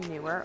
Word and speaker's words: Neewer: something like this one from newer or Noir depending on how you pronounce it and where you're from so you may have